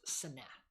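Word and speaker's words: סנה: The Hebrew word is seneh. Right? So the burning bush, the burning seneh. Go ahead. Can you spell that? I can't spell Hebrew. English transliteration would be S-E-N-E.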